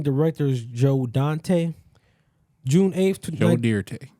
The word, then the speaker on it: Joe Dante: Joe Dante June 8th Jo de that's how you say his name oh about to say